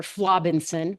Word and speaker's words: Flobinson: Now, just as a little precursor, the doctor who called me, I am changing his name to Dr. Flobinson, rhymes with Robinson.